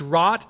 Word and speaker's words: wrought: Christianity is as much taught as it is wrought they said it right it's rot as well as being taught or caught right